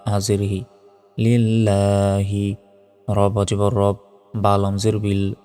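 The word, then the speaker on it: رَبِّ: হাজিরহি লিল্লাহি রব জবর রব বা লাম জের বিল রব্বিল আমরা অনেকে রাব্বিল বলি এটা ভুল রব্বিল বলতে হবে আইন খারা জবর আ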